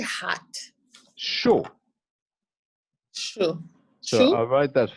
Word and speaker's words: chaud: Chaud.